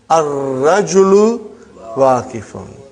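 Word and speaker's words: الرجل: Next one is ar-rajulu waqifun. Before we said al-waladu waqifun or al-mudarrisu waqifun. Those are all moon letters. Now we have sun letter ar-rajulu waqifun.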